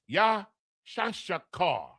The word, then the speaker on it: Issachar: Issachar, H3485, the Mexican, so-called Mexican. The Yah, the Shah, the Ka, and the Ra. Properly pronounced, Yashashakar. Yashashakar, Issachar, Yashashakar, the Mexican.